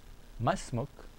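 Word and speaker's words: ما اسمك: This is how you say masmuk, and you must sound it like a question. You don't say it like a statement. You say masmuk, masmuk. You say masmuk like a question. You say it in a questioning way.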